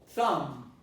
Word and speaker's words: thumb: to be neutralized in terms of the vowel pronunciation. All right, and then you have the word thumb.